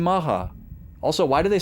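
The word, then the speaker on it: Macha: to B7, we encounter I like calling it matcha. Uh but apparently it's maha. That's how they say it in the anime in the Japanese track and that's how Kite just said it in the English dub.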